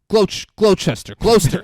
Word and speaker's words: Gloucester: Gloucester.